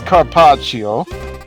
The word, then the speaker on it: Carpaccio: Car as in car, and I got a great one. Pock as in posh, which my mansion is. Cho, which rhymes with bow, which is what you got. Oh no, Chio, which rhymes with bio, which is what you got.